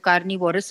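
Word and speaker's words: carnivores: Animals के ऊपर, और कार्निवोर्स हर्बीवोर्स एंड ओमनीवोर्स हैं. और मैं आपको ये भी बताऊं कि most of the people they pronounce it incorrectly. वो कार्निवोरस बोलते हैं, हर्बीवोरस बोलते हैं, ओमनीवोरस बोलते हैं.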